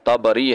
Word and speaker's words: طبری: کا ذکر آ گیا۔ یاد رہے کہ کچھ جاہل لوگ اس کو تبری پڑھتے ہیں، جبکہ یہ صحیح لفظ جو ہے، اور کچھ اس کو تبری پڑھتے ہیں، جبکہ صحیح جو تلفظ ہے اس کا وہ طبری ہے، طا اور با کے فتحہ کے ساتھ، طبرستان سے طبری ہے، جیسا کہ امام